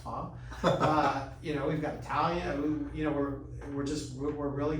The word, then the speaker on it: pho: We just have our first pho restaurant, which I found out it's not pronounced pho, it's pronounced pho.